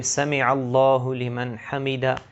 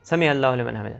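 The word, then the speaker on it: سمع اللہ لمن حمدہ: ہم رکوع سے اٹھتے ہیں تو وہاں پہ سمع اللہ لمن حمیدہ یہ پڑھا جاتا ہے، لیکن بہت سے لوگ جلدی جلدی میں یہ پڑھتے ہیں سمع اللہ لمن حمیدہ، سمع اللہ لمن حمیدہ، ابھی جو صحیح تلفظ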